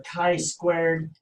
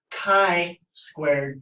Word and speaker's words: chi-squared: to be 0.05 and our Tai squared which is pronounced chi-squared test to have three degrees